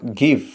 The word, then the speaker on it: give: کو پڑھا جائے گا گیو۔ 4 لیٹر GIVE لکھے جائیں گے لیکن پڑھتے وقت صرف 3 لیٹرز کی آواز آئے گی، گیو۔ دوسرا ورڈ اس